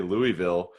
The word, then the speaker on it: Louisville: And actually, let me just back up a step because I say Louisville for folks who are not from Louisville. That's how you really pronounce it.